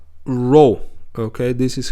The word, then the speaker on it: rho: with the Greek letter, this one, Greek letter, rho. Okay, this is how you say it. This is the name of the letter is rho.